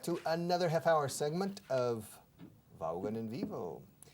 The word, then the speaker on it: Vaughan: Hello and welcome back to another half-hour segment of Vaughan en Vivo. Se pronuncia en inglés Vaughan, ¿eh? Pero aquí, en España, si digo Vaughan, nobody understands me. So I changed my name to Vaughan.